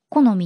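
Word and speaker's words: 好美: だってそうで私の名前って普通に読むとあのよしみって読むという思うんですよだけどもうあのすでにいとこで吉見がいたからだから読み方を変えようって言って好みになったんですよ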